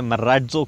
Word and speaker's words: Marazzo: कुछ लोगों को प्रोनाउंसिएशन में दिक्कत आता है तो मैं बता दूं, महिंद्रा इसे मराजो कहना चाहता है। हालांकि स्पेलिंग में आपको मराजो लिखेगा, लेकिन मराजो इसका प्रोनाउंसिएशन होगा।